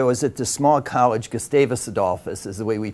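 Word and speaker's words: Gustavus Adolphus: last day I was at the small college gustavis adice is the way we pronounce it yeah it's a small Swedish school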